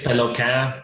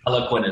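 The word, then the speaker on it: Peloquin: Yeah, well, technically it's Pelequin, but French-Canadian, the pronunciation is way too hard. So Pelequin is perfect.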